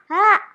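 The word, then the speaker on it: ح: Lalu seperti ini dibacanya lebih dalam, dibaca ha.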